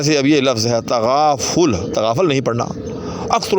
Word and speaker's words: تغافل: تو غلط پڑھیں گے۔ تو یہ لفظ تغافل جو ہے یہ باب تفاعل سے ہے۔ تفاعل، تے پر بھی زبر ہے، فے پر بھی زبر